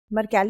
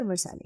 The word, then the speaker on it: Mercalli: Mercalli or Mercalli, it's a proper noun, so we can pronounce it either way.